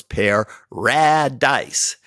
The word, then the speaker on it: PaRADise: I call Paradise and it's spelled Little P little a capital r capital a capital D little I little s little e so it's pear rad Dice and it's that uh